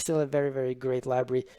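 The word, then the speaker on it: LBRY: I'm not jumping ship it's called library you spelled with lb ry so if you actually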